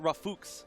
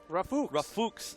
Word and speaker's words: Rafooks: They said it's pronounced Rafooks. Rafooks. Yes, so that is the correct way to do it.